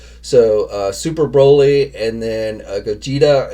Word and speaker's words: Gogeta: So Super Broly and then Gogeta, I believe is how you pronounce his name, hobby exclusive version.